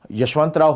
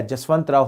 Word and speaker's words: यशवंतराव: दोस्तों छोटे भाई की हत्या के बाद यशवंतराव होलकर जो थे या जसवंतराव होलकर, दोनों जे या वाई से प्रोनाउंसिएशन हो जाता है, ये इनके खिलाफ युद्ध करने लगे।